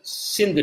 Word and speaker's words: Sindhu: they came across the Sindhu River the river Sindhu they pronounced as Hindu so they saw a